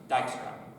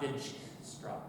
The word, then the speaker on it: Dijkstra: algorithm and prim's algorithm it's a Dutch name it's pronounced dijkstra not dig straw so here's your priority